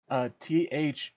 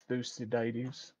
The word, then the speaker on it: Thucydides: It's Thucydides. Can you spell that again?